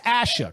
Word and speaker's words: Asha: i butchered your name it is asha correct it it is and i hate to